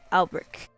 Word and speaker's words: Alberich: So Alberich.